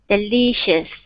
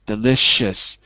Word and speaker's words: delicious: Delicious. CH sound. Right. Delicious. Delicious. Wait, CH or SH? SH. SH. Right. The sh sound.